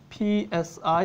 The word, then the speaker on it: Psi: going to use capital Psi. Everyone here has seen the Greek letter Psi, or P-S-I. That's why I have that weird sound at the beginning, Psi.